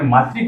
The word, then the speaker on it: मातृ: अब बोलने में मातृ कोशिका से ही प्रोनाउंसिएशन होता है, न कि मात्र कोशिका है। मात्र में तो ऐसा त्र आता है, जबकि अपन मातृ लिख रहे हैं, ठीक है ना। तो ये चीज आपको ध्यान रखनी, प्रोनाउंसिएशन की आपका सुधारना है।